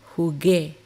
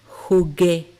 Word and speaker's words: jugué: The reason there's a U is that when we put it together next to the G, it gives the G a hard sound G. But the U by itself in this word is silent.